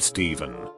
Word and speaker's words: Stephen: look tiny one but you're told that oh is pronounced like f what I wasn't told was that it's only pronounced like that until you encounter the word Stephen then it's suddenly a V sound question mark how's it